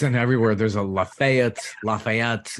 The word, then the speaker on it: Lafayette: careful it's it's pronounced Lafayette so you kind of emphasize the LA the laugh part of part of it but it's the very